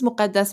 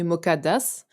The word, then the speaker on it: Mukaddas: to introduce ourselves mukadas my name is mukadas you can call me mukades if you cannot pronounce the i'm an ethnomusicologist filmmaker